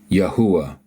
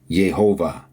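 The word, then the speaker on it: יהוה: Yod, He, Uah, He. That's what we get. YHUH. Yahuwah. Again, they pronounce it as Yehovah.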